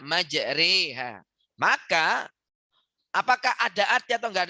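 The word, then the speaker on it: مجريها: begini Hai anda sekalian kalau kamu baca majroha itu enggak boleh menurut Imam qiroat Nyai Mama asik maka bacanya satu menurut Imam ashim dari murid beliau itu Imam hafs harus dibaca majreha Maka apakah ada atau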